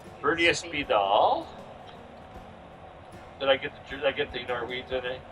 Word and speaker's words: Spidahl: Well, we're going to end, and what we're going to say is Byrdia Spidahl. Spidahl. I did pronounce it correct. Byrdia Spidahl.